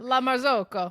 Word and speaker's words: La Marzocco: La Marzocco.